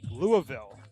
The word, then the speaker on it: Louisville: Hand it over to Jake Schwitzer, a right-handed pitcher out of Louisville, which I've learned is the proper way to pronounce that a couple weeks ago.